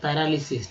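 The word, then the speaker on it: paralysis: पैरा, पहला ए का उच्चारण जो है ए के रूप में किया गया, पै, और दूसरा ए का उच्चारण जो है आ के रूप में किया गया, तो पैरालिसिस।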